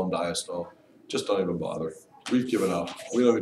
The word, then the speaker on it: diastole: systole and diastole these terms are pronounced systole and diastole diastole that's how those